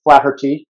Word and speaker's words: Flaherty: Yeah, so Flaherty, or as the Irish pronounce it, Flaherty.